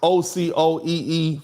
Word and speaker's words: Ocoee: The name is pronounced Ocoee, Florida.